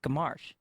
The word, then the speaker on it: Gamache: He's like, yeah, but Jay, the way you pronounce it is more like Gamache.